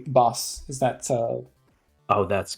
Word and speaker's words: Bas: the way is it bass or like am I saying that right um yeah that that works fine so in my native language Dutch it's pronounced boss but um how whatever